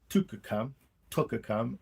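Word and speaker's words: twca cam: Yeah, so it's pronounced Tucker-cam, like a book, tuck, cut, look. Double O. W is a double O, so it makes ook sound.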